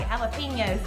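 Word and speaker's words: jalapeños: Hey, I said it right, jalapenos.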